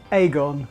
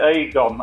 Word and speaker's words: Agon: I would say Aon I pronoun it Aon I pronounce it Aon I think because I just say what I see because I'm from Manchester so it's I believe other people pronounce it differently but I'm sticking with